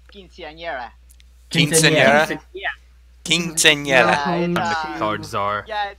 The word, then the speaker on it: quinceañera: An unforgettable Quinn Scenera.